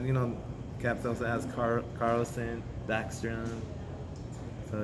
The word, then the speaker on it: Carlson: No, Carlson. That's a different guy you're talking about. Like it's spelled C. CARL, Yeah. not Carson.